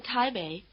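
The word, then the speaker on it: 台北: Yong ping bow thing the syllable Bay which means North is in the low tone in Thai Bay the name of the largest city in Taiwan it comes at the end and so it has its rising tail in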